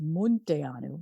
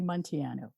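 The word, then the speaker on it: Munteanu: did you say that it's a romanian name it's really supposed to be pronounced mundianu but i i just can't say it that way so i've anglicized it i say monteano so it's almost like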